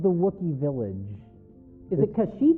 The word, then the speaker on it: Kashyyyk: In this Star Wars Holiday Special, though, they call it Kazoo? Or Kashu. Kashu or Kazoo. They pronounce Kashyyyk it is wrong. very similar to Kashmir.